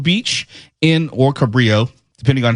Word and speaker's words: Cabrillo: When I was growing up, it was pronounced both Cabrillo and Cabrillo. Yes, I know the Spanish pronunciation of Cabrillo, okay?